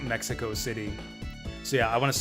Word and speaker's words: Mexico City: um excuse me it's it's in the original spanish it is pronounced mexico city not mexico city so yeah i want